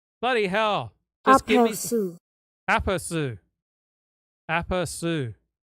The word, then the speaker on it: aperçu: Just give me aperçu.